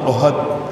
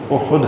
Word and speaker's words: احد: احد پہاڑ۔ عموماً ہم احد ہا کے اوپر زبر پڑ جاتے ہیں، لیکن صحیح تلفظ احد ہے حدیث پاک میں۔ فما